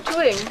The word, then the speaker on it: Tuing: Jim and Karen Tuing. Have I pronounced your name right? Yeah, sure.